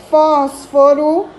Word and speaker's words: fósforo: essa que a palavra fósforo separando em sílabas aqui a sílaba tônica mais forte o foz e também é uma